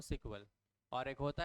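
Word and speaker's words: SQL: है पढे आप कभी एस क्यूएल एस कल को क्या प्रोनाउंस करते सीक्वल एसकल नहीं बोलते क्या बोलते उसको सीक्वल और एक होता है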